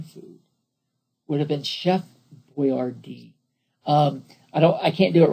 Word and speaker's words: Boyardee: He didn't spell his name this way, but he spelled it Boyardee so that everybody would know how to pronounce it. He pronounced it Chef Boyardee.